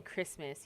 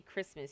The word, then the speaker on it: Christmas: that to me in Christmas you don't do that you just say Christmas you don't say Christmas excuse me okay you do not say the T in it I do okay bunk